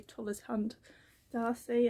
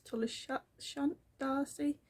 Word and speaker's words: Tolleshunt D'Arcy: how to say it, I say Tullis Hunt Darcy, I think it's Tullis Shunt Darcy.